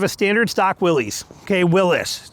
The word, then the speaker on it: Willys: Willis is actually how it's said, but we got a standard stock 2025 Jeep Willys right here.